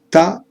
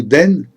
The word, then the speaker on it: 田: La partie du haut, qui se prononce ta ou den, signifie rizière.